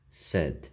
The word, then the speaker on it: said: Pronuncia said, like bad, like red.